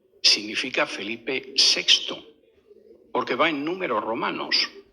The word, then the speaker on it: Felipe VI: Y claro, los que no lo saben a lo mejor lo ven y dicen Felipe B, pero no es Felipe VI.